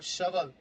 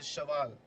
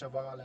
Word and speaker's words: Shaval: And now we have Shaveal. I'm sorry, this is Shaval. I have been told about this in the last match. They told me that his name is pronounced Shaval and not Shaveal.